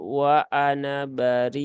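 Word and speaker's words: وأنا بريء: dengan yang tadi ya ada tanda sifirnya ketika diwasal dia tidak dibaca alifnya ketika wakaf baru terbaca maka di situ dibaca WA Ana bariun baik lanjut ya tidak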